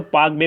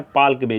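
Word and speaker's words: Palk Bay: पाल्क बे, जिसको देखो कई बार क्या होता है, इसका प्रोनाउंसिएशन जो किया जाता है वो किया जाता है पाक बे के अनुसार, तो कन्फ्यूजन हो जाता है कि पाक बे कहीं पाकिस्तान और भारत के बीच में तो नहीं है। लेकिन अगर आप इसको पाल्क पढ़ेंगे प्रोनाउंसिएशन को हटाकर, तो आप आसानी से ध्यान रख सकते हैं।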